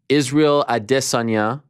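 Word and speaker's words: Israel Adesanya: saw you in person was march of 2020 israel adessanya remember you have to pronounce it correctly i dis on your arizona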